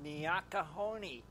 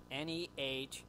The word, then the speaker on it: Nikanee: Vandal says it's Nikani. Nikani. Nikani. Nikanee is how it's pronounced.